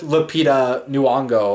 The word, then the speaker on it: Lupita Nyong'o: the Oscars and yeah and and along with Lupita Nyong'o or I think that's how her name's pronounced but that movie us I didn't see